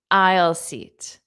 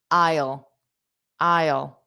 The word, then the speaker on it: aisle: Isle seat. Notice that pronunciation. The pronunciation and spelling are very different. Isle. I I I And then that dark L isle. Isle.